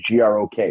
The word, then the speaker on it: Grok: It's G-R-O-K. It's Grok. Now, if it was Grok, it'd be G-R-O-A-K.